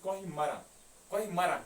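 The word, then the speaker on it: Koh-i-Maran: और ये जो हरि पर्वत है इट्स आल्सो कॉल्ड एज कोहिमरा, ये मरन एन लिखते हैं लेकिन ये साइलेंट रहता है, ठीक है।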